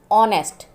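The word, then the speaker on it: honest: Climb, ऑनेस्ट, इसमें एच नहीं पढ़ा जाएगा, ऑनेस्ट पढ़ा जाएगा।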